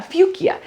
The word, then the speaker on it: fuchsia: Denise she was always calling it uh fuchia and I love it but it it that's an actual way way to pronounce it um uh my our